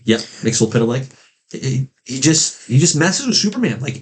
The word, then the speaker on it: Mxyzptlk: How do you pronounce it? I said Mxyzptlk. Yep, Mxyzptlk.